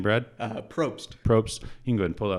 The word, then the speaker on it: Probst: Probst.